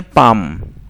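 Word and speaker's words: palm: अब यहाँ पे क्या, कुछ लोग पाल्म पढ़ते हैं, पाल्म नहीं है पाम। जो प्रोनाउंस होगा वही शब्द है हमारा पाम, पा देन माँ, ठीक है।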